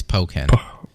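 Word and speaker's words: Pokkén: If you look at it, it looks like Pokken, but knowing the two components of the word, it's Pokken. And Pokemon and Tekken.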